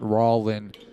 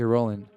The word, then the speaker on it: Rowling: Rowling isn't a real person, and it's pronounced Rowling, not Rowling.